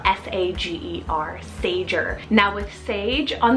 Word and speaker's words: Sager: similar to Sayer is the name Sager spell s-a-g-e-r Sager now with sage On The Rise around